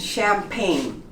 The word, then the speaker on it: champagne: Sign, foreign, design, resign, and champagne. You noticed? All of the words have GN next to each other, both consonants, and the G becomes silent.